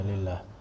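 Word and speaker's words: لله: Jadi kalau alif lam dikasih lam li, maka alifnya hilang. Makanya kan tulis lafzul jalalah Allah, ini kasih lam, ini jadi langsung aja lillah. Kalau seperti ini bacanya lillah. Kalau gini bacanya Allah.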